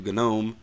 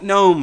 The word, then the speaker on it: GNOME: All of a sudden, now we all have to pronounce the G because it's G and U or whatever the deal is.